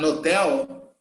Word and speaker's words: hotel: like hotel and hostile in some places where english is spoken as a first language as a modern language they don't pronounce the age so if you listen to a native speaker saying a hotel a nodel he's not pronouncing the age that's why he's going